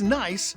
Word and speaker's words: Nice: It's nice in Nice. It's spelled N-I-C-E, but pronounced like the daughter of your brother or sister.